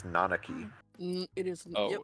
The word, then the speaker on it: Nanaki: just weird I mean I used to call him nakaki but apparently is nanaki it is oh it's